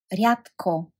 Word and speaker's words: рядко: So we have the adverbs sometimes, понякога, понякога, понякога, rarely, рядко, рядко, and you can hear d in front of k sounds like t, so you pronounce it t, рядко, рядко, often, често, често, always, винаги, винаги, never, никога, никога.